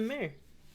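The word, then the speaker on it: Maher: as in a horse, or mayor as in your job? Not my job, and not the horse either. It's spelled differently than either. Like John Mayer? Yep. Like John.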